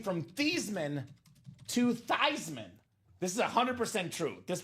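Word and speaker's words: Theismann: name from Theman to Thyman." This is 100% true. This part of the story 100% true. So his name was actually Theman. Change it to Thyman so it could be Thyman for the Heisman.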